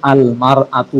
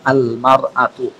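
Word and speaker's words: المرأة: যেমন আল মার আতু হবে, তখন ইমরাতুন না হয়ে আল মার আতু।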